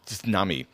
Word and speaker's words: tsunami: in Japanese it's pronounced tsunami so you do pronounce the T so if you hear